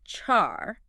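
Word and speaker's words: छह: Written and that's with like a bit of a breathy sound.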